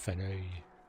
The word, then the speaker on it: Faneuil: Fenoy Hall. Faneuil Hall, I think they call it, eh? Faneuil? It's a French word. It's pronounced Feneuil.